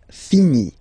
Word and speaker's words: finis: Je finis. Remember, final S is not pronounced.